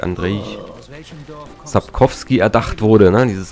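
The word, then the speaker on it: Andrzej: Ja, von Andrei, oder so wird er ausgesprochen, glaube ich, Andrei Sapkowski erdacht wurde, ne, dieses Universum.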